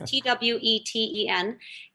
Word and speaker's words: Tweten: And Tweten is with one E, but it is pronounced with, well, it sounds like it has two, but it's just Tweten.